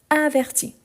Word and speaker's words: avertit: Ici averti j'entends le i. averti. Averti donc ici c'est la différence par rapport à la prononciation. Donc ah mais je n'entends ni le s ni le t. Non mais c'est la marque par rapport à la conjugaison. Donc je les écris toujours mais je ne les prononce jamais.